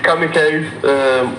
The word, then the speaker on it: Kamiikaze: a little confused because I've heard some people say Kamiikaze, some people say Kamiikaze, and I don't want to call you by the wrong name. It's Kamiikaze. Yeah, people have their own pronunciation of it, I guess. But whatever floats your boat, but originally it's Kamiikaze.